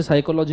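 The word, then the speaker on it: psychology: नहीं समझ में आता जैसे साइकोलॉजी में पी साइलेंट है मेरे को प साइकोलॉजी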